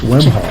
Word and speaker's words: Wemhoff: It's the easiest way for everyone in the room is pretend that first H isn't there, and just go Wemhoff, and that's the way to do it.